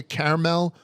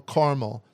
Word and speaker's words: caramel: parts of the country, pronounce it with two syllables. Either caramel or caramel. Two syllables. It's mostly in the western and northern parts of the country, whereas caramel or any kind of three syllable pronunciation is generally found in southern states.